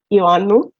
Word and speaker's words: Ioannou: My surname is pronounced Ioannou.